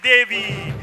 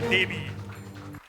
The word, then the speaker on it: Devi: Yes, this is Devi or Devi. You're a Bengali? You're a Bengali? Okay. So, you pronounce it with a Hindi intonation. We call it Devi. But the anglicized version is with a V, not a B.